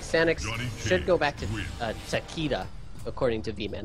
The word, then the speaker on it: Takeda: I feel like Sanix should go back to Takeda, according to V-Man. That's how you say his name is. Takeda, not Takeda. But I always called it Takeda. I'm pretty sure it works either way.